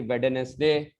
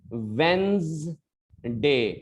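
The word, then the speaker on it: Wednesday: और आखिरी वर्ड आज का है, जिसको हम लोग बोलते हैं वेंड, वेड, इसको वेड बोलते हैं, फिर वेडनेसडे, इस तरीके से। सॉरी बच्चों, इसको कैसे बोलना है, वेंसडे, ये ज का साउंड आना ही आना चाहिए।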